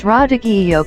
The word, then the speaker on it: radicchio: Purple-colored radicchio, pronounced radicchio, can taste bitter fresh but sweeter when grilled or roasted.